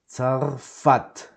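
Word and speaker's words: צרפת: It's not za, it's not za, it's not sa, it's tsa, okay? Begins with a T and then a S, tsar, tsa.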